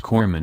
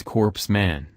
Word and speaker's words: corpsman: corpsman Christian Burris art Obama mispronounced corpsman as corpse man what I was suggesting